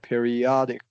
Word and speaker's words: periodic: Periodic. Yeah, that's right. Yeah. correct, and so that short O gets the primary stress.